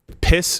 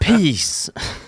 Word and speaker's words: PiS: Their ruling party, Law and Justice, which ironically is piss, is it's one S, but it's still piss. That's pronounced peace.